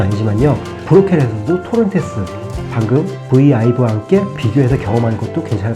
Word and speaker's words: VIVE: 이거 어떻게 읽느냐에 따라 다른데 제가 아이브를 워낙 좋아하다 보니까 저는 V 아이브라고 읽어요. 그런데 바이브라고 읽는 분들도 있고 이마트에는 비베라고 나왔네요. 하여튼 V 아이브, 토론테스, 말벡 이번에 괜찮은 가격으로 나왔습니다.